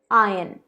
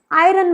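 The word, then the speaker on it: iron: ये प्रेस जो है इसका बेसिक प्रोनाउंसिएशन है आयन, आयन। ये एक मेटल भी होता है, करेक्ट प्रोनाउंसिएशन है आयन। आयरन मत कहिए, ये बिल्कुल ही गलत है, आयरन नहीं, आयन, आयन।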